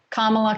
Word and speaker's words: Kamala: pronounce her name now kamala kamala i i keep going with camelot because i was told it was like pamela except with the kids